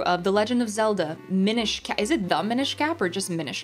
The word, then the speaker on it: Minish: pretty sure it's the Minish Cap it's pronounced Minish it's pronounced a Minish Mish cap there there